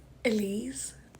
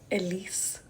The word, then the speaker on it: Elise: It's Elise. Like cheese and not Elise, like niece.